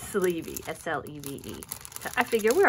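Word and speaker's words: Sleve: Okay, so on the back I did created by Sleevey, YouTube Raleigh Girl, Instagram at Raleigh Girl Designs. Okay, so that's it looks, the last name looks like sleeve, but it's Sleevey, S-L-E-V-E.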